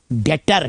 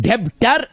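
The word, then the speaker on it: debtor: नहीं गलत स्पेलिंग बोल रहे हो। गलत प्रोनाउंसिएशन बोल रहे हो। हां डेप्टर मगर पढ़ना है डेटर।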